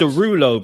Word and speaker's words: Derulo: How's it pronounced? It's Derulo, bro.